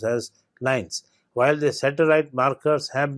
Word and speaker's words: LINEs: interpers nuclear elements that is L and Es pronounced as lines while the satellite markers have been at the